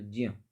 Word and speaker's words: ज्ञ: और यानी कि ज्ञ, जो इसके लिए आपको जो है ज और नी, तो ज्य, इसलिए इसका उच्चारण ज्या बोलते हैं।